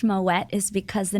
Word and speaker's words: Moët: mispronounced quite frequently so you do hit the T so you say Moet so when I say